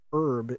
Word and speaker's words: herb: the words we use because herb is the way it's supposed to be pronounced but they were like her like okay all right